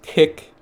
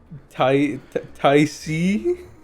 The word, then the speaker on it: TYC: and then there's Tick, which is which is technically the correct way to pronounce it.